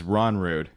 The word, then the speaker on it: Rognrud: You disregard the G, and it's Rognrud.